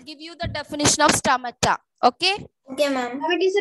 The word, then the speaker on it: stomata: Ma'am, it's stomata or stomata? A or O? STOMATA, but when you pronounce, we will use stomata.